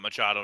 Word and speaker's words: Machado: It's 100% Machado and he said Mack wrong.